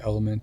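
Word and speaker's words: LMNT: this one called element it's l m n t I guess it's pronounced element and it's supposed to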